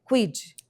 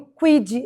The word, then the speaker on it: QueeD: E aí o Quid é um nome que suou forte, rápido, fácil de pronunciar e assim, se a gente for para fora do país, as pessoas vão conseguir falar quid se a gente alcançar aí um nível internacional.